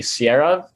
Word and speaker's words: Siara: Across from me is a team of Palm Springs, which is currently streaming on Hulu, director Max Barbakow and writer Siara. Am I pronouncing that right?